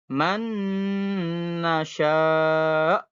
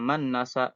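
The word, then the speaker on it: من نشاء: tetap Nun dibacanya ya contohnya Man Nasya ditahan dulu jangan berburu-buru misalnya manasa enggak boleh ya ditahan dulu S atau satu laginya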